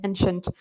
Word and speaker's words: ancient: challenging for some students ci en T is pronounced Shenton ancient so for example I'm sorry similar to Italian